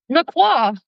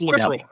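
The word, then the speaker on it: LaCroix: Everybody pronounce pronounce that word. What is that word? Laqua. Laqua. No, it's lacroy.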